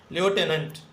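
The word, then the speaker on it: lieutenant: एल आई ई यू टी ई एन ए एन टी लटेनेंट लटेनेंट a person who does not believe in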